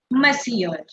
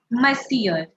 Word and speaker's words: Monsieur: Mr. is called Monsieur. Monsieur. Monsieur. If you see, it's written in a very different way and I'm pronouncing it quite differently. So please pay attention to how I'm pronouncing.